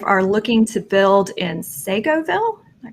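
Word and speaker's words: Seagoville: He and his wife are looking to build in Segoville. Am I pronouncing it? Segoville, yeah.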